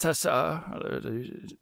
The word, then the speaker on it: Tessa: well it's a test tessa i think that you mispronounced it there but uh um so